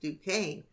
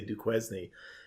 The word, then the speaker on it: Duquesne: to quiz me and he said no that's pronounced Duquesne yeah questioning I think still around these days I hear that on a radio a lot a lot of people say do quiz knee in fact yeah yeah